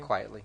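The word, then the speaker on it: Quitely: How did you pronounce his last name? Quietly.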